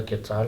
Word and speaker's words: quetzal: The national bird is a quetzal, which is how you say it, the name of the money Yeah.